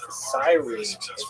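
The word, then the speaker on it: Cyrene: Uh I've uh looked it up and I've heard it pronounced as sirene in English.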